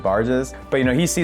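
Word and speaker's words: Burgess: I'm pronouncing that incorrectly it looks like it's spelled like B burges but I think it's pronounce it barges but you know he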